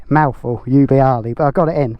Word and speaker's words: Ubbiali: How do I pronounce it again? Ubbiali.